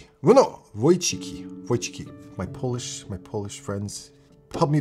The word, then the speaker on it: Wojcicki: Wojcicki. Well, no, Wojcicki. My Polish friends help me to pronounce that name. Where is it? Susan Wojcicki. It's the C that always gets me. Wojcicki.